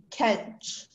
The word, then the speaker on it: kench: Hello, your word is Kench. Kench, may I please have all the information? Kench is the only pronunciation, it's a noun.